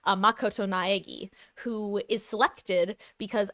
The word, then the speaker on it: Makoto: So you the first game you play as the super high school level lucky student Nak I almost said Nakoto Makoto Naagi who is selected